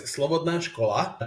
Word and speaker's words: Slobodná škola: So the pronunciation of our school is Slovadola.